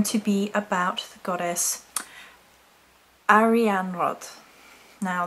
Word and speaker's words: Arianrhod: goddess REM rod now that's how the pronunciation is given here I understand that there are different interpretations of and if I'm saying it wrong then forgive me but they would go okay so re on rod meaning silver wheel or